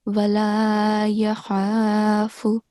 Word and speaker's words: ولا يخاف: So in the last verse here, this is not ha, this is kha. So wala yakhafu.